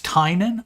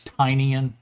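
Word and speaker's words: Tynion: but now I don't I think it's tinan yeah because that's why his newsletter is called tiny onion tiny onion yeah I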